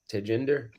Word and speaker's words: Tejinder: name of you to take in there to gender yeah yeah same okay the age is silent so all right I